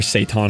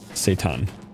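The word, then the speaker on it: seitan: So, I took um there's this I don't know where Satan originated, but you can make like this plant-based uh meat called Satan, and it's literally the antithesis of gluten-free, people.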